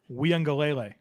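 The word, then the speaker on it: Uiagalelei: this um joe clemson quarterback how do you pronounce it we on galele he nailed it he's still we had a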